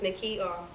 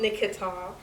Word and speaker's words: Nikita: because it's just like my name is not hard to pronounce it's nikita it's not nikita it's not it's nikita now so do you think